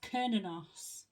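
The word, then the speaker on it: Cernunnos: 24 page 24 right it tells me how to pronounce it it's kinos also known as Hern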